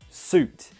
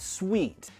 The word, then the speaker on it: suit: Suit. Pronunciation suit, not sweet.